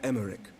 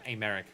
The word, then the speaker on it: Emmerich: meet you i am emmerich lord commander of the temple knights okay so i was going a bit too hard with the pronunciation of america this is america okay alfie no levier at